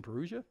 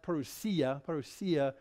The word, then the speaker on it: parousia: Want some Perugia? It's great stuff. No, it's not. Actually, it's pronounced Perugia.